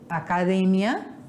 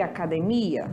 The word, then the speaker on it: academia: língua espanhola é outra por exemplo academia e academia Olha a mudança em português é no me que é uma oxítona e espanhol é uma paroxítona que a penúltima sílaba do espanhol e a última sílaba do Porto e a escrita é a mesma o que muda é a sílaba tônica sílaba mais forte por isso que são